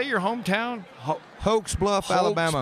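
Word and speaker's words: Hokes Bluff: great so how do you say your hometown hoax Bluff Alabama H Bluff Alabama what happens there oh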